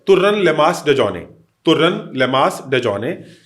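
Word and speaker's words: Dejokney: डी ई जे ओ के एन इ वाई इसमें के साइलेंट है तुरल लेमा डिजोने ये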